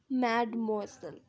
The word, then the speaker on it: mademoiselle: मेडमोइसेल मतलब होता है in French a little to refer to N unmarried woman pronounce mademoiselle. Mademoiselle, okay, so it is mademoiselle, so she is mademoiselle Raymond, I mean mademoiselle Raymond.